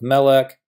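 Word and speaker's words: מֶלֶךְ: If the syllable has the accent, well, duh, we call it the accented syllable, like meh of melek, var of davar, or ka of malka.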